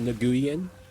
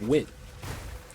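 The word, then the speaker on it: Nguyen: So I I learned that that's not pronounced Naguian, it's pronounced win, right?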